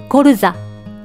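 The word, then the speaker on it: colza: これは男性名詞で、ルコルザ、ルコルザと言います。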